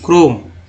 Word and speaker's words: Chrome: के से तो क होता ही है, लेकिन क को और इंग्लिश वर्ड में और पढ़ते हैं। जैसे अगर मैं यहाँ लिख दूँ CHROME, क्रोम, क्या हो, क्रोम हो गया।